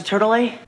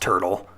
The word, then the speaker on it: Turtle: This could be why Zack pronounces Lisa's family name like this. Excuse me, Dr. Turtle. Very probably not. The last name is pronounced Turtle.